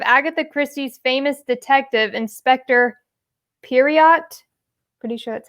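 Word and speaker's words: Poirot: So it says, what is the first name of Agatha Christie's famous detective, Inspector Periot? Pretty sure that's how you pronounce it.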